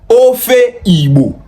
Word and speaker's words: Ofe Igbo: The right way of pronouncing it is Ofe Igbo.